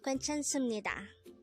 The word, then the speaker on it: 괜찮습니다: So looking back to the third syllable, as you can see, it ends with a biop character. And it is normal in Korean language to switch that sound into a mium sound when it is followed by a neon character. And that's why it is pronounced as sum instead of sup.